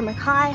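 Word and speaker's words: McCay: So she was created by animator Winsor McKay or Mackay, however you want to pronounce it.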